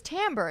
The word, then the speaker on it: timbre: And how do you pronounce it?" And I was like, "Oh, it's timbre."